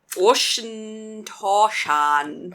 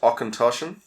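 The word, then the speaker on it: Auchentoshan: we're drinking oh god i can't say that ocean torshan okay it's pronounced ochentoshan akantoshan is it german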